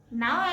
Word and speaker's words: know: नाउ alphabet के.